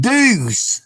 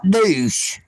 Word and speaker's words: deuce: That is spelled deuce, D-U-E-C-E, which means double or two. Deuce, not douche.